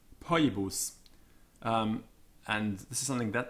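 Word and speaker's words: Phoebus: So CH and TH and PH are like K, T, and P, followed by the letter H. So Bacchus, Cetegus, Poibus.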